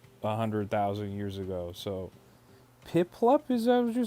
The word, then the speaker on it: Piplup: Not pip pipup. It's piplup. Oh, you know what's crazy is I've said piplup probably since Diamond and Pearl came out a 100,000 years ago. So, Piplup, is that what you're saying?